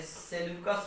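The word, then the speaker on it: Seleucus: देखिए एक सेनापति जो है उसको हम लोग बोलते हैं क्या, एक सेनापति बोलते हैं सेल्यूकस निकेटर, ऐसे देखिए पढ़ने का तरीका है, एक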